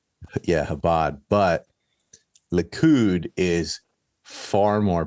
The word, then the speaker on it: Chabad: One faction is called Habad, but it's spelled with a ch like chabad. Yeah, but it sounds like a H. They don't have a H. They have like a KH.